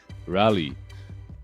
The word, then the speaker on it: Raleigh: get some good destination not how do you pronounce this ra rally really rally what the hell is Rally I I just Googled it it's in North